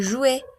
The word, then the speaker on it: jouent: Muy bien, tenemos el verbo jouer. Y aquí ya está conjugado, ¿verdad? Porque son ellos juegan. Carlos, Nadia et Tibor jouent, juegan. Oui, esta Joue. NT no pronunciamos nunca. Joue o Joue.